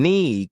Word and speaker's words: knee: For example, words like knife and knee confused me because the K was silent.